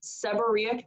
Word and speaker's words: seborrhoeic: doctor and deny service seborrhoeic that's why that's pronounced seborrhoeic dermatitis is the inflammation of